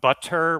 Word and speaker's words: butter: what's called the uh the flap t so it sounds almost more like a d instead of two t's so for example this word butter butter yeah so instead of a hard t sound butter we're going to make it sound like a d like this butter butter yeah this will